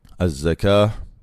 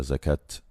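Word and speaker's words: زكاة: Azzaka. Il y a une à la fin qu'on prononce comme une ha lorsqu'on s'arrête. En français, les gens ont l'habitude de dire la zakat en prononçant le thé.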